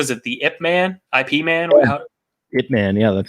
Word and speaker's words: Ip Man: IP Man?